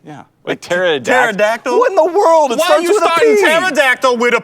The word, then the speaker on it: pterodactyl: say yeah but Terra pterodactyl in the world tactile witta P what is what is going on right now the P is silent why do we why